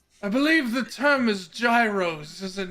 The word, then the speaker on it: gyros: believe the term is Gyros is it not yes but it's pronounced hero yes but I've heard